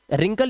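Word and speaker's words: wrinkle: और रिंकल यानी कि झुर्रियां, इसके अंदर हमारा डब्ल्यू साइलेंट है।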